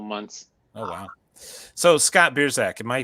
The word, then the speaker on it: Biersack: once every couple months oh wow so scott beerzak am i pronouncing your last name right you are good